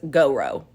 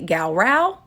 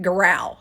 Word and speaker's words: Gowrow: it and naturally want to say it as Goro but I was then told that that was inaccurate that it's actually gal Rao but I've also heard it growl so take your pick but for the purpose